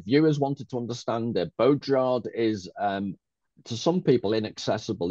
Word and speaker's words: Baudrillard: I can't do the French, but a good French person would say something along the lines of Baudrillard. Baudrillard.